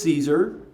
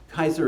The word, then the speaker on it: Caesar: Roman civil wars, Julius Caesar, which is, by the way, how we've learned to mispronounce his name all this time. It should be Julius Caesar. Kaiser is the correct Roman or Latin pronunciation.